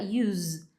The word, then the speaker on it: use: Agora vamos falar do outro significado e a outra pronúncia que é a palavra use com som do z.